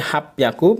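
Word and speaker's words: 八百: sini ada 805-806 tuh api Aku bukan hap hyakuya bukannya jadi bukan jadi happyaku merupakan bilangan pengecualian juga seperti tadi 600 jadi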